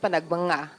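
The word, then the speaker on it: Panagbenga: Dear tourist, it's pronounced panagbanga.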